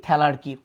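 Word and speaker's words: thelarche: ম্যানার্কি, এটাকে আবার আগের বইয়ে ম্যানার্চি বলতো, বাট উচ্চারণ ম্যানার্কি, পিউবার্কি, থ্যালার্কি।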